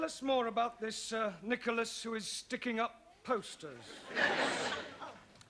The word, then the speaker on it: Nicholas: upon a times there was a man called nickel ass that's not quite right no no once upon a time there was a woman called nickel us it's pronounced Nicholas all right once upon a time there was